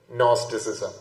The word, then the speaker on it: Gnosticism: So it starts G. Gnosticism. Okay. G. Though the G is silent, it starts with Gnosticism.